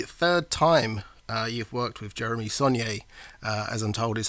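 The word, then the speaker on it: Jeremy Saulnier: And as you mentioned before, this is the third time you've worked with Jeremy Saunier, as I'm told is how you are the correct way to pronounce his name, because I have been saying it wrong for quite a while now.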